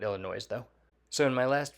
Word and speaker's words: Illinois: letting me know that the S at the end of Illinois is silent I'm still going to call it Illinois though so in my